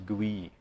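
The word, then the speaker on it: Gouy: And this is mispronounced and misspelled often. I learned it as the GOI phase for some reason. I think GOI means something else. But I think the French pronounce it as GUI. We should follow what they say.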